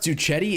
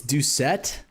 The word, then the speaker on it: Doucette: Bro, it's not pronounced Duchetti, it's Doucette.